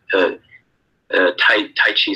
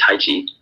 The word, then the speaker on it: Taiji: art of Taiji Chuan, of Tai Chi, some people pronounce it, but it's Taiji.